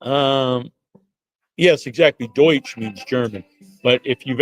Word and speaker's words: Deutsch: grandmother was uh Pennsylvania Dutch, which is German. People don't know uh Pennsylvania Dutch is because they couldn't pronounce Deutsch or they mispronounced Deutsch.